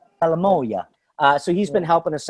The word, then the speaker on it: salamoia: Salamoia. Salamoia.